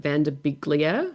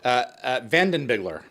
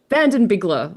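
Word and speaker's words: Van Den Biggelaar: So the replicators themselves, I think the VFX artist Craig, I don't want to mispronounce his name, is it Vanderbiglier? Vandenbigler. Vandenbigler, I love that.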